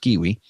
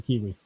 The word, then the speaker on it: K1W1: I think it's actually supposed to be pronounced Kiwi. Team Kiwi. Okay, there we go. But with ones instead of I's.